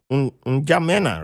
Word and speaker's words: N'Djamena: called N'Djamena, right? Oh my goodness. Okay, you said it right, but the N is silent. Njamena.